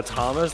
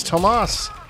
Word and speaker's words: Tomas: He hasn't been a Thomas this whole time. There's no H. There is an H. There's no H. It's Tomas.